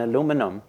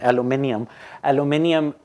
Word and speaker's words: aluminium: And that's where the next book on aluminum, and I keep saying the American pronunciation, aluminium will be important, because